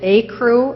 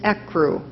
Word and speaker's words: ecru: I pronounced it acru. An alternate pronunciation, which you just voiced, is ecru.